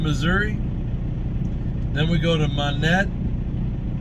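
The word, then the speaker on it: Monett: then we go to monet i'm assuming that's how they pronounce it it's uh m-o-n-e-t-t there's only one in so it's monet or it's monet uh missouri i'll just see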